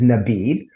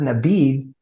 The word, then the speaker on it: Nabidh: Okay, we might pronounce that as Nabidh, but there's an Arabic word Nabidh, which is a DH, if you will, a vowel, Mm-hmm. and that word Nabidh, it ain't a Hebrew word.